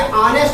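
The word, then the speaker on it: honest: ऑनेस्ट, यहाँ पे देखिए ऑनेस्ट प्रोनाउंसिएशन होता है, ऑनेस्ट मैन।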